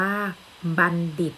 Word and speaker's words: บัณฑิต: จาก ภาพ นะ คะ ทำ นี้ อ่าน ว่า บัณฑิต นะ คะ หมาย ถึง